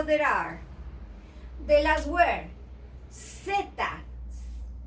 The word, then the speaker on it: zeta: The last word, zeta, it should be theta, as in thorough, but we don't pronounce it this way in South America.